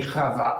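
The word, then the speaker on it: חוה: Chava. So this is a long syllable, so it would be accented normally. Chava.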